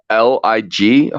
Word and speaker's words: Lig: question too is that l-i-g how do I pronounce how do I say your name sir like life is good that's Lig okay life is good